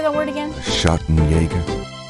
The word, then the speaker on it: Schattenjäger: Schattenjäger. Schattenjäger?